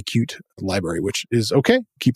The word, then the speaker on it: Qt: pide 6 or Pi cute 6 QT is how it's spelled but cute is the framework it's very much a